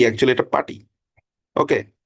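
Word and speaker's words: PuTTY: যেমন আপনি গুগ এ যদি সার্চ করেন যে পার্টি লিখে বাংলাদেশে এটা অনেকে উচ্চারণ করে পুটি একচুয়ালি এটা পার্টি ওকে সো এইখানে আপনি এই যে পার্টির এডিশন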